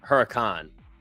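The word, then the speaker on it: Huracán: I pronounced it wrong last time. I got made fun of it. The Huracan.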